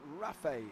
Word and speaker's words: Ralph: Alan Toon, great lap by Ralph, pronounced Rafe, if you remember. Why do I remember that, Alan Toon? Give me a nudge and tell me why I'm going to remember Ralph Cullinan.